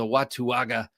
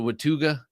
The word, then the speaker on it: Watauga: knife today was the watuwaga by sencut that's what I'm going with watuwaga um some call it the watuga I say pronounce every letter if you don't know